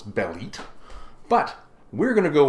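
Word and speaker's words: Bêlit: every effort possible to instead of saying bellet say bit which is what Marvel apparently wants me to say so that's what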